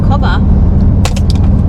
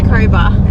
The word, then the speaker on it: Cobar: made it to cob I said it wrong earlier I was saying cobba it's cobba Sor the M side you